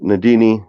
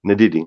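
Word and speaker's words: Ndidi: was exceptionally good um nadine um i'm sure i'm supposed to pronounce his name nadidi right sorry i had a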